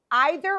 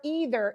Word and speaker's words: either: For example, both, either or either, it's pronounced both ways, neither or neither, and the word whether, okay?